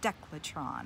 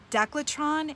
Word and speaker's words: Decathlon: have a store called decathlon but they don't pronounce it that way they say Dec Letran or some sort of beautiful accent that the Spanish or the Italians say doclet Ron is a huge sporting